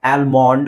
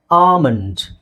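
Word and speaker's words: almond: ಆಲ್ಮಂಡ್ ಅಂತ ಓದ್ತಾರೆ ಅಥವಾ ಆಲ್ಮೊಂಡ್ ಅಂತ ಹೇಳ್ತೀರಾ ಕೆಲವರು ನಿಮ್ಮಲ್ಲಿ ಎಲ್ಲರೂ ಅಲ್ಲ ಓಕೆ ಕೆಲವರು ಸರಿಯಾಗಿ ಹೇಳ್ತಿರಬಹುದು ಇಲ್ಲಿ ಎಲ್ ಸೈಲೆಂಟ್ ಆಗಿರುತ್ತೆ ಎಲ್ ಸೈಲೆಂಟ್ ಆಗಿರುತ್ತೆ ಕಾಮನ್ ಆಗಿ ಎ ಮತ್ತೆ ಎಲ್ ಬಂದಾಗ ಆಲ್ ಅಂತ ಬರುತ್ತೆ ಆಲ್ ಅಂತ ಬರೋದು ಬಹಳ ಕಡಿಮೆ ಸ್ಟಾರ್ಟಿಂಗ್ ಅಲ್ಲಿ ಅಥವಾ ಮಧ್ಯದಲ್ಲಿ ಬಂದಾಗ ಓಕೆ ಸೊ ಅದಕ್ಕೆ ನಾವು ಇದನ್ನ ಏನಂತ ಹೇಳ್ತಿವಿ ಆಮಂಡ್ ಏನಂತ ಹೇಳ್ತಿವಿ ಆಮಂಡ್ ಸೋ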